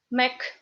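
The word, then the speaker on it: Мег: In Russian, Mek. Because this G becomes K only in the end of the word.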